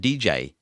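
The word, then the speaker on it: djay: it's not really unknown the app is called dj so i wasn't just describing the app i was naming the app that is spelt dj a y i must admit i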